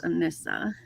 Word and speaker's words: Anissa: Okay, so it rhymes with Melissa, so it's Anissa.